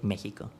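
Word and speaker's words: México: In Spanish, for example, we almost use it like a J sound. So Mexico is written with an X, but we say Mexico.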